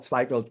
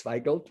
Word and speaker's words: Zweigelt: You know, it's very difficult to pronounce Zweigelt, because the E and the I in the German language is pronounced the opposite way.